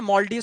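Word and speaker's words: Maldives: मालदीव ठीक है ना मलडी मालदीव जैसे आप लोग प्रोनाउंस करते हैं सही है मलडी ठीक है तो ये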